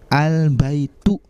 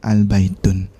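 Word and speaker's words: البيت: belakangnya contohnya baitun-nur Hai sementara untuk lafadz yang ada alif lam nya ada awalnya maka tanwinnya akan dihilangkan sehingga kita membacanya dengan bacaan albaitu bukan albain Ton baik kira-kira Bagaimana sampai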